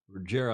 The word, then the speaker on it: Ruggero: Ruggero, I had to look, that's how you pronounce it in Italian.